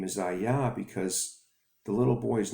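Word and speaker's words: אהיה: Moses came to the children of Israel in Egypt, and he brought one name, and that name is pronounced Ayah.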